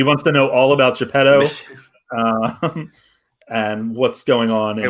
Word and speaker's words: Geppetto: Geppetto. Oh man, we need to make sure that is Peter Pan. Okay, this is getting weird. Yeah, no, we all the last two syllables were enunciated.